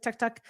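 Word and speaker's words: tuk-tuk: They call them to It's not a tuk tuk. It's a tuk tuk is how they say it, but it's spelled like tuk tuk.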